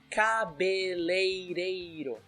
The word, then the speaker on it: cabeleireiro: So this, in the middle of the word, you see leirei. That's difficult to pronounce. Even some Brazilians would pronounce it wrong. I'm calling out some Brazilians now, and I'm going to say they pronounced cabeleireiro. That's wrong. Cabeleireiro. Correct.